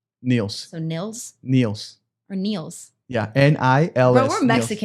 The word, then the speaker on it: Nils: Niels? It's like pills, but with an N. Niels. So Nils?